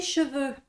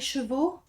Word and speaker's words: cheveux: parler des cheveux d'abord pour la prononciation cette lettre là se prononce E et ces deux lettres là se prononcent e exactement le même son e cheveux d'accord faites attention souvent les étudiants parlent des chevaux merci les étudiants parlent